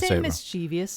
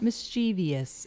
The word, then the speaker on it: mischievous: yeah i don't know there is a tendency to want to put that extra e sound in it so it's not mischievous it's mischievous isn't that interesting and it's spelled that way too why do we say